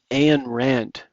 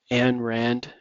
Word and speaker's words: Ayn Rand: Uh there was a female philosopher named Anan Rand. Uh I don't know how I'm pronouncing this properly or not. An Rand.